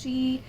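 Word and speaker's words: Sidhe: similar to side or i believe it's pronounced she which refers to the fey or elves in um irish and celtic mythology also known as the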